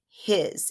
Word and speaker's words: his: here we go his what do you hear at the end of his if i really stretch this out listen yeah i hear a z don't i i hear z but look at what it's spelled with it's not spelled with a z it's spelled with an s so remember red words